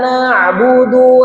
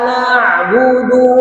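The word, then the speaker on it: نَعْبُدُ: Coba iyaka na'budu wa iyyaka nasta. Balik lagi huruf ain perlu kita perhatikan ya. Na'budu bukan na'budu. Kalau na'budu itu hamzah. Jadi bukan na'budu. Salah huruf awas maknanya pun salah.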